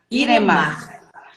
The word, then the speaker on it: Iremar: eu estou falando certinho é irema mesmo seu nome não é isso a pronúncia é irema iremar a minha dúvida era